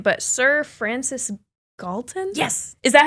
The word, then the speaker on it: Galton: going to butcher his name, but Sir Francis Galton?